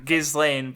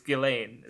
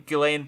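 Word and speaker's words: Ghislaine: you're right I I was I was shortening gizan but it's like it's not it's g g it's gilain so I I just need to say it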